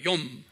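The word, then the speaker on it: יום: 욤. Y-O-M. 그래서 우리가 욤키푸 기억나죠? 욤키푸르란 건 뭐예요? 피 흘려 제사 드리는 거예요. 욤은 뭐예요? 날. 그래서 속죄일 그런 거예요. 속죄일. 그래서 욤키푸르 그러는 거예요. 그래서 욤은 유대말로 day, 날, 하루 그런 소리예요.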